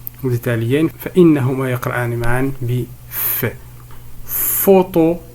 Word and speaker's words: photo: Photo, ici nous avons le son F, s'écrit par PH.